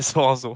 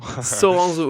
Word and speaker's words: Soranzo: ça va bien et pour la prononciation c'est Soranzo Soranzo ok ok ouais j'ai